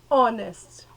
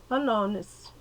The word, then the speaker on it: honest: Honest. A gente não pronunciou o H, a gente só pronunciou o O, que é a vogal. Então, an honest.